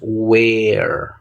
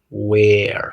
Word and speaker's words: where: tres al revés ese TR indica que es una e corta que pronunciamos ahí cómo hacemos eso como la e del español que con la con la boca Un poquito más e Entonces cómo pronunciamos Where Where cuando yo digo Where donde la boca está bastante abierta porque es un sonido corto de una e we Where Where Where Where